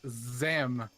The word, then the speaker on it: Zam: I did not pronunciate the Z enough for you. For you too. It's Zam.